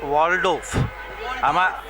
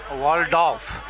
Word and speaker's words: Waldorf: The word is Waldorf. Waldorf. Okay, nothing is silent in that, na? Waldorf.